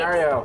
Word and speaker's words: Mario: Do you guys want to see some Mario Brothers for the new Super Mario Brothers?